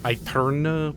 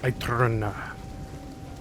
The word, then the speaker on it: Aeterna: It's Aeterna with like a rolling R, which I cannot do with my white boy voice. Aeterna.